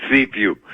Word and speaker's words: Cifu: The last name is spelled Cifu. And he's listed here as the vice... It's Cifu.